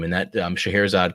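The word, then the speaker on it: Scheherazade: name and that um shahir azad comes from old a middle persian name called our chair which was then kind of pronounced shahirizade which was also the german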